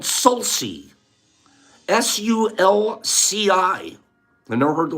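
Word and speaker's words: sulci: and then the valleys the folds are called salsi s-u-l-c-i they never heard the word before some of me correct my pronunciation salsi oil salties injuries that are creating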